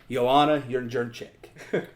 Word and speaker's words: Jędrzejczyk: That is Zhang Weili fighting my personal favorite woman fighter, Joanna Jędrzejczyk. Okay, how do you like that pronunciation?